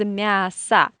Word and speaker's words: мясо: we have genders, and мясо, it means meat, is a very tricky word. It finishes with the o, but it is in unstressed weak position, and we pronounce this word as мясо.